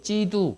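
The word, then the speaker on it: 基督: 그래서 영어로 얘기하면 크라이스트 중국에서 얘기할 때는 그 기독걸 지두 그래 그리스도들 그래서 한국의 발음으로 얘기하니까 그게 기독이에요 그래서 그리스도교는 사실 기독교나 같은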